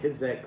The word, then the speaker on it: Czech: I don't know why it's spelled that way, but it's pronounced Czech.